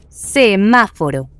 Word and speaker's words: semáforo: Semáforo. Esto es semáforo. Es una palabra esdújula porque tiene la sílaba tónica el antepenúltima posición.